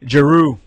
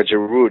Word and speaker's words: Giroud: Giroud, how you pronounce it? Giroud. Yeah, Giroud.